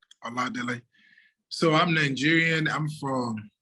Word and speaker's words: Oladele: my initial uh my name is a lot delay so i'm nigerian i'm from the uba tribe